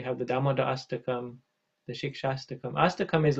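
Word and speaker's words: Shikshashtakam: I can't pronounce it. Shikastakam. Yeah, that's almost right. Yes, the Sikshastakam prayers.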